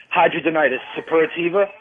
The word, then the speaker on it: hidradenitis suppurativa: Hidradenitis suppurativa. Yeah, I'm pronouncing it right.